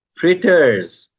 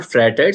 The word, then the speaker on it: fritters: fritters, Fritters. fritters. Okay. It's not fratters, it's called fritters.